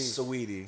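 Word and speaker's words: Saweetie: Yeah, listen, you know me, you could call me whatever, but I'm still with Swahidi, whatever how you say it name. Sweetie.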